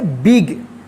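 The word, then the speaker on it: big: बिग। तो इसका rule क्या है? दो कॉन्सोनेंट के बीच में अगर आई आता है तो आई का ई उच्चारण होगा।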